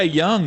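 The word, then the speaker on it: Jung: gonna give them a day and this guy young the third baseman they have uh and it's spelled j-u-n-g but he's he's been killing it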